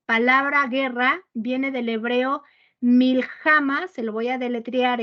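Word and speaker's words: מלחמה: guerra viene del hebreo mil jama se lo voy a deletrear es m y L cade kilo J a m a acento en la última que significa ataque batalla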